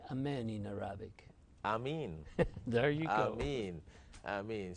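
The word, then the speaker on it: آمين: Ameen.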